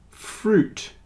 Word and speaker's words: fruit: have a silent U but fruit juice and suit the I is not pronounced fruit juice and suit